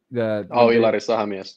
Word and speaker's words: Ilari Sahamies: How do you pronounce his name? Ilari Sahamies.